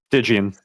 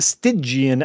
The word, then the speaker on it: Stygian: Stygian. The pronunciation of this has been a hot debate. Stygian is, I believe, the correct pronunciation.